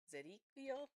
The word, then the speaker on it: Zadkiel: Zedikiel.